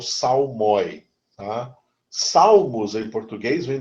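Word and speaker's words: psalmoi: uma palavra grega né em grego até a pronúncia é salmi salmi no singular salmos e no plural salmi tá Salmos em português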